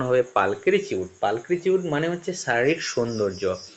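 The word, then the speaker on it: pulchritude: এটার উচ্চারণ হবে পালকিচিউড।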